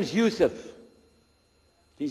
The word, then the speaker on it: Yusuf: we'll work on it shalom my name is Yusuf did you say Yusuf let me say Yusuf you're very good I wish you teach my wife she keeps mispronouncing it she calls me useless from the left now how many of you